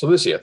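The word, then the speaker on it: Cilicia: this is celestia yes celicia thank you it's not the way i would anticipate pronouncing it uh greetings we have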